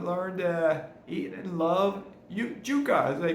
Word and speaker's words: yuca: All right, as the years have gone on, I've learned to eat and love yuca, as they pronounce it here in Panama.